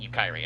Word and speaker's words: Yukari: I'm like, no, because there's an implied A, Yukiri. Also, if you say it, it sounds like Yukari Takiba from Persona 3, which was also a childhood crush of mine.